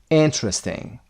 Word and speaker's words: interesting: beautiful foreign exciting interesting is first syllable interesting romantic Part B 2.44